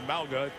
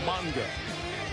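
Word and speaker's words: Mauga: there by Josh Monga used to be MAA changed the pronunciation it's now manga backup linebacker for the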